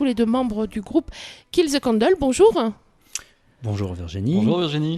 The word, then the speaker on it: Kill the Candle: et Pierrick, tous les deux membres du groupe Kill the Candle. Bonjour. Bonjour Virginie. Bonjour Virginie. Je l'ai bien prononcé ? Oui, c'est ça, Kill the Candle.